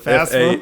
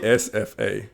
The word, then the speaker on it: FAFSA: I thought it was FAFSA. FASFA.